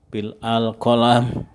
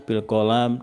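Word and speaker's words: بالقلم: Kadang-kadang kalau teman-teman tidak tahu tentang bahasa Arab, itu bahasanya metode dakwah bil al lisan, bil al qalam, bil al hal gitu. Jadi ini bacanya bil lisan, bil qalam, dan bil hal. Ya, jangan sampai keliru.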